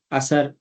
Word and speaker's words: عصر: ہیں، ہم فجر، ظہر، عصر یہ کرتے ہیں، یہ اس میں جو دوسرا حرف ہے وہ ساکن ہے۔ فجر، ظہر، عصر، مغرب،